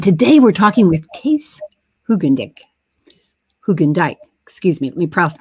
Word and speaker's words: Hoogendijk: And so we are used to having all the pronunciations of the name Hoogendijk. We need, I think, Dutch tongue and teeth for that.